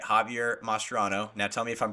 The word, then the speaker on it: Mascherano: Javier Mascherano. Now tell me if I'm pronouncing that right.